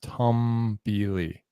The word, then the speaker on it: Tombili: get i got to tombili all right all right i looked it up google says it's pronounced tom billy so i'm bringing up